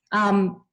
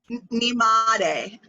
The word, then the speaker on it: Nimade: Nimade. Nimade? Yeah, like knee, like your knee that bends. Ma, like what up, ma?